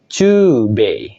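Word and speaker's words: 中米: digabung dengan kanji tengah dia akan dibaca Cu B oke nah B kan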